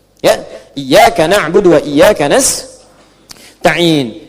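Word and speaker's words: نستعين: Ada yang baca pakai kasrah nistain ya. Nistain ini bacaannya dari Bani Asad, Rabiah, dan Bani Tamim. Tapi kita baca harus menggunakan fathah kalau untuk kita ya. Jadi bacanya apa? Nastain iyaka na'budu wa iyaka nastain.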